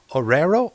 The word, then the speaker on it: Arroyo: by Jose Arroyo.